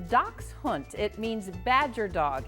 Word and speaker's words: Dachshund: to the 15th century pronounced doc hunt it means Badger dog